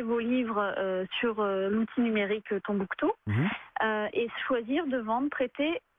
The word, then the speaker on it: Tonbooktoo: Vous êtes cofondatrice de Tombouctou, ça s'écrit T-O-N-B-2-O-K-T-2-O.